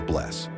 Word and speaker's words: bless: or daughter daughter 13 in Icelandic hello is pronounced Halo thank you is talk yes is Jah no is nigh and goodbye is bless 14 the most popular